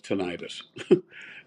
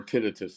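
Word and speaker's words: tinnitus: period of time has tenius and and I I think or tinitus there's you know these two pronunciations and sure I think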